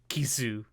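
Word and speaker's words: キス: of fish called a ki-suh fish and ki-suh sounds a lot like the English word for kiss well actually they're their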